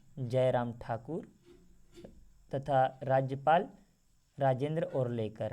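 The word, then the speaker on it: आर्लेकर: लिखा गया है दोस्तों, ये होगा राजेंद्र और लेकर। ठीक है ना, क्या नाम है? और लेकर। देखिएगा कुछ इस प्रकार से उनका प्रोनाउंसिएशन है यहाँ पर, देखिए और लेकर।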